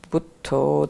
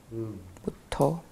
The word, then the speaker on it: Buddho: But usually I use Buddho, Dhammo, Sangho, the Buddha, the Dhamma, and the Sangha. Which is how they say it in Thai. Buddho, name of the Buddha, Dhammo, name of the